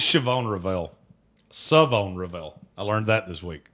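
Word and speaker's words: Shavon Revel: love it's shobon revel saone revel I learned that this week they the H is silent I like that savone Revel out of East Carolina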